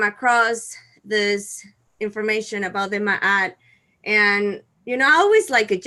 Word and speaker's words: Ma'at: Ma'at, yes.